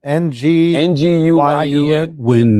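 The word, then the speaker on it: Nguyen: NG win is closest.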